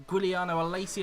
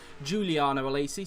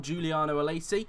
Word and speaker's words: Giuliano Alesi: Giuliano Alesi out there as well, or in fact I found out it's actually pronounced as Giuliano Alesi, so we'll call him that from now on, Giuliano Alesi.